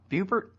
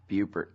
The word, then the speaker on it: Buppert: Buppert? Buppert.